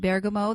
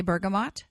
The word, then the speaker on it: bergamot: I do pronounce it Bergamo that was the way I learned to pronounce it when I first started this modality in Italy in 1991 and it's stuck and